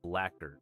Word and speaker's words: blackguard: Oh, little blackguard. Tell Miltendo that mine odor is wondrous. I think it's often pronounced as blacker for whatever reason.